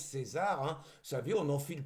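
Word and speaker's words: Caesar: Alors j'ai demandé hein, ça s'écrit C A E S A R mais il paraît que ça se prononce César. Donc je prononce César hein, vous savez, on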